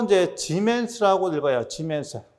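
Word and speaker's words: siemens: 자, 또 이제 지멘스라고 읽어요.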